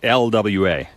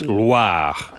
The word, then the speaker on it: Loire: Oh, I didn't Not roll the Loire. R. It's not LWA. Oh. It's Loire.